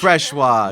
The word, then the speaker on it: Freshour: Freshour? It's Freshour. Freshoir? Like Freshoir, Yeah. yes. It's a French name.